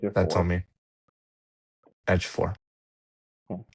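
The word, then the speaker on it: Ejiofor: Edge 4. Yeah, it's Okay. Edge of four.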